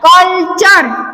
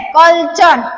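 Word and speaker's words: culture: यहाँ पे क्या लिखा हुआ है, कल्चर, क्या लिखा हुआ है, कल्चर। टी के आगे यू आर ई और एस के आगे टी आई ओ एन अगर रहे तो इसमें टी का उच्चारण च पढ़ते हैं।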